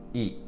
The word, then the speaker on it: い: understand that this character, E, is not the letter E. It is the letter I. But it is pronounced E. But it is pronounced like the letter E.